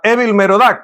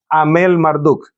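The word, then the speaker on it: Amel-Marduk: Vamos a explicarlo en un en un segundo porque eh vamos a pronunciarlo de manera convencional, ¿verdad, Evil? Merodak, pero él tenía su nombre.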